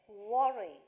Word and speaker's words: worry: right please don't worry how did I pronounce this word worry w words round your lips worry that's all right please